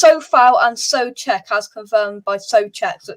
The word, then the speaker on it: Souček: It's Sofal and Souček, as confirmed by Souček. So it's Sofal and Souček. Right, those are the pronunciations of that.